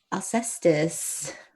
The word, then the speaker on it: Alcestis: Alcestis. Yes. Alcestis? Alcestis. Well, Alcestis. technically it would be Alcestis because there is no C or soft C in Greek. It would be a K.